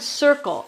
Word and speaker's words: circle: This word circle is very interesting because it has both a hard C, this one, and a soft C because this is an I, right? So that makes us say S.